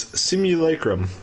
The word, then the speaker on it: simulacrum: The pronunciation is simulacrum.